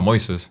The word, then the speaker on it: Moises: my name is mois uh Moises Maurice no Moises Moises Moes how do you spell that it's m o i s s m